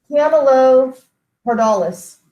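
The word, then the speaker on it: Camelopardalis: cepheus cassiopeia and then camelo perdalis is how you would pronounce that most people don't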